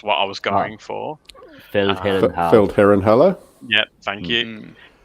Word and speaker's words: Feldherrenhalle: So Adam might have to pronounce this for me, but the Feldharnel was what I was going for. Feldherrenhalle.